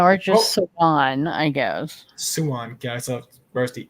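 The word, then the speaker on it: Siuan: So Swan. It's like Swan. Swan, but with like a little Swan. sh in there. Swan. Yeah, or just Swan, I guess. Swan.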